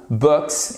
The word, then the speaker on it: books: Là, pour le coup, c'est un ou court, books et non pas books. Je fais pas avec le bout de la bouche, hein, c'est books. And watch movies.